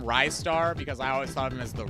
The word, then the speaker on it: Ristar: No, Ivan, it's not Rizstar. That is the one I'm pretty sure we can all safely decide that it's not Rizstar. I call him Ristar because I always thought